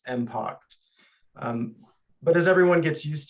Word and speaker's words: MPX: we've shifted to MPX which is some sometimes pronounced impact but as everyone gets